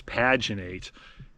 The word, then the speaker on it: paginate: I don't think they pronounce the E, so it's paginate everything.